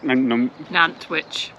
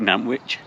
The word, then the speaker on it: Nantwich: really enjoyed nanwich n n witch do again really enjoyed n witch I still got to say nanwich like sandwich yeah uh we really